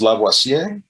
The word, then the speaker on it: Lavoisier: died during the revolution was lavoisier i think that's they pronounced it and he basically discovered